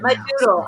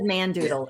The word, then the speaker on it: Madoodle: Madoodle. I said Mandoodle. It's not Mandoodle.